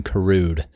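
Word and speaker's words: Karud: first music from yoim kude you spell that like yoim NOA the basketball player if you know him kude k a r u d also music on this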